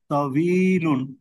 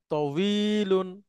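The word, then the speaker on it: طويل: না হিনা স্যার ভ বাংলার যে ব সেটার মত কিছুটা তবিলুন ইয়েস তবিলুন মানে স্যার লম্বা ঠিক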